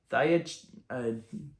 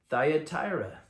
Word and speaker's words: Thyatira: Yeah, that's pretty good pronunciation. Thyatira. Thyatira.